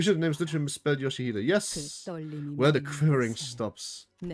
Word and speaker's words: Yoshihide: Yoshihide, that's how you say it.